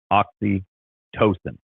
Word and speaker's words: oxytocin: you you are oxyx the to is pronounced like toe see that's that's that's what I needed right there that's what that's what I needed right there oxytocin perfect um sleep Improvement